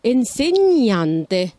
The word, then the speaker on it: insegnante: insegnante يعني معلم مدرس وناخد بالنا ان هنا حرف الجي لما جه وراه حرف الان اتغير النطق ما نطقناش الجي وغيرنا من حاله حرف الان فبقت insegnante نين insegnante pesce pesce سمك cane cane, كلب.